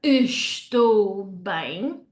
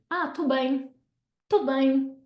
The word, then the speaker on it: estou bem: So, in real life, you wouldn't hear estou bem. The first ES would just get dropped off and swallowed up, okay? So you'll hear, tô bem, I'm fine, okay?